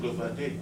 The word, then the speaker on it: Bloemfontein: He's from Bloemfontein. Oh, Bloemfontein? Is that the way you pronounce it? Yeah, yes. That's what I said, Bloemfontein.